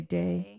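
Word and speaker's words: Deigh: one comes for Liams is it day is that how you pronounce it I believe so I'd have to find it somewhere in my book d i g h oh yeah I would say day yeah days so there's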